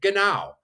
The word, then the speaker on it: genau: You'll hear a lot of words for where Germans might say genau. That's Genau, which means A-OK.